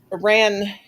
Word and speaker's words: Aran: Aaron. Yep. Yep. I have heard it pronounced the other way though.